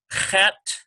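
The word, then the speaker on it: חית: One is a guttural, the other one is a very smooth H sound.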